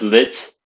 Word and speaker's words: lit: And as noticed by this graphic, bed is le lit. Not pronounced lit, but lit.